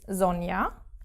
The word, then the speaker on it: Sonja: There is no J sound. It is more like an I in English, Y. So, for example, my own name, which is Sonja, with a J, it's